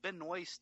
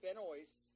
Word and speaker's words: Benoist: I'm gonna go with Benoist just because it rhymes with moist.